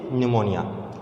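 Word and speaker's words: pneumonia: We have 2 disease of bacterial disease, ठीक है, एक टाइफाइड है और दूसरा आपका निमोनिया है, न्यूमोनिया, ठीक है। पी साइलेंट होता है इसलिए निमोनिया।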